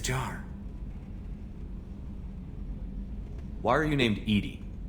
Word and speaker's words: EDI: why are you named Edie Edie is the phonetic pronunciation of EDI that is an acronym for enhanced defense intelligence you have to get